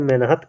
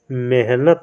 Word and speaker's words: मेहनत: बहुत लोग कहते हैं मेनत करते हैं मेनत नहीं होता है है ना मेनत आपका गलत है मेहनत होता है मेहनत यह आपका सही होता है मेहनत है ना मेनत